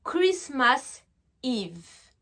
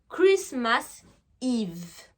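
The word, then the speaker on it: Christmas Eve: on va appeler ça Chris mars Yves d'accord donc là on écrit avec un e mais ça se prononce i Christmas Yves super on continue ensuite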